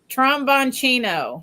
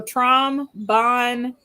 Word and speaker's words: Tromboncino: He wants to know how to pronounce it every time. Tromboncino. So Tromboncino.